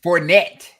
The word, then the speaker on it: Fournette: Fournette.